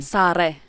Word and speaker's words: Sara: Well, it depends on which language. Your English, language. The mother tongue? Correct mother pronunciation. Sare.